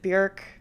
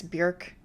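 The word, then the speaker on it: Björk: like bjork jokes, and yes, you pronounce it bjork. I want to make that very clear. It's bjork. It has umlauts. It's bjork.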